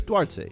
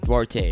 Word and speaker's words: Duarte: my wild card is chris how do you duarte i know why he's a wild cause that's how you say his name right yeah chris duarte duarte i know why he's a wild cause why